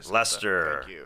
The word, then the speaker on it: Leicester: Leicester uh which uh thank you for the pronunciation that's nice yeah Lester yeah Lester Freeman uh Jordan from Canada said